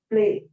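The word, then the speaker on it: plaît: at the pronunciation of this particular word, is play. So we look at the pronunciation of all the acronyms, we will be able to highlight this particular point. Respond, say, va, play.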